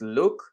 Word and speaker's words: LIWC: when you use liwc which is by the way pronounced look the results of the